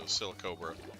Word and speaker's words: Silicobra: thing's name so it's it's a cross between the words silicone and silica and uh Cobra so silicobra okay silicobra okay gotcha